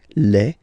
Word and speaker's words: les: the plural form okay Le and then same rule you just write leave and then you put S at the end but then you don't pronounce it Le so it's quite